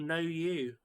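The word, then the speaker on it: Nu: I was making a joke that the brand is called No You. But it's spelled N-U.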